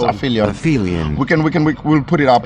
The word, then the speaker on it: aphelion: It's called aphelion. I hope I'm pronouncing it correctly. With a P, and an H, and an E. The PH would be F for English, right? Phonetically. L-I. Yeah, I think it's aphelion.